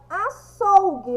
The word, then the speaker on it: açougue: Qual é a sílaba mais forte de açougue? Vamos chamar o açougue. Açougue, açougue. O som mais forte que saiu da minha boca foi o sou. Então, vocês irão colorir o sou.